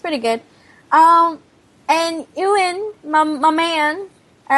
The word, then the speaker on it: Ewan: His name is spelled Ewan. There's no V. Right. Anyway. You say it like it's spelled. Ewan.